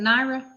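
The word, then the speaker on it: Nyara: do you say her first name is it naira yeah yeah sabali um and she they both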